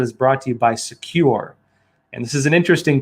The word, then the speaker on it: Sekur: cyber security application tool called secure that's spelled s-e-k-u-r and secure is offering